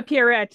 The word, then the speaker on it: Pierrette: And then of course, and I've always had confusion pronouncing her name. Is it Pierrette? Yeah, Pierrette, yeah.